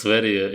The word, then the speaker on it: Sverige: Temple It's pronounced Sverige.